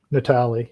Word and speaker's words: Natale: Natale, yeah.